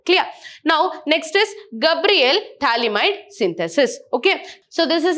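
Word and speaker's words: Phthalimide: Okay, so P here is silent, we call it as thalamide.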